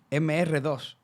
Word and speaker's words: MR2: Quitaron el nombre porque era el Toyota MR2, que en francés se pronuncia como MD y que me ha